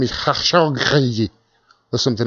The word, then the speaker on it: Khashoggi: Shahid Rahman says, I heard Khashoggi that got murdered was the brother of Adnan Khashoggi, the arms dealer.